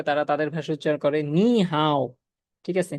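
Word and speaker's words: 你好: নি হাও। ঠিক আছে? নি হাও। নি হাও এরকম উচ্চারণ।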